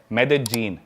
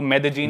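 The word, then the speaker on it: Medellín: उसकी एक सिटी है मेदजीन। स्पेलिंग में उसमें डबल एल आता है। मेदलीन होता है। लेकिन कोलंबियन स्पैनिश में ल बोलते हैं। तो मेदजीन वो शायद उसकी मेन सिटी है ना उस कंट्री।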